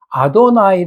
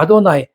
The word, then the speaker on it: 아도나이: 글이 나올 때마다 그들은 예호바 그렇게 읽지 않고 뭐라고 읽는다고 그랬어요 아도나이 아고 읽었어요 그까 아도나이 그은 분명히 여호와데 아도나이 아도나이 이렇게 읽어 나왔거든